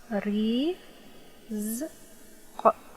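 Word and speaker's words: رزق: Ra has kasra, so it's ri. Okay, no dots. This is ra. One dot above. This is zay. Okay, try to pronounce it. Ri, z, q. Rizq, rizq, rizq.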